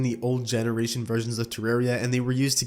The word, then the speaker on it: Terraria: accessories Terraria name orange the official pronunciation of the popular title is Terraria due to it being based off the word terrarium along with this when